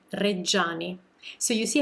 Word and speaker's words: Reggiani: super common mistake that english speakers make when pronouncing italian names with a gi or with a ci and another vowel following and this is a